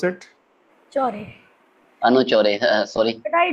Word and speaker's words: Chaudhary: Anu, how do you pronounce it? Chaudhary.